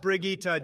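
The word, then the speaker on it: Brigitte: in a and moving on believable we have Bridget next it's pronounced brigitta Jesus Christ Barack and you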